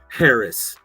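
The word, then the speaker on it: Harracz: look up mine and my last name is spelled just like it sounds h a r r-a-c-z harris i love that um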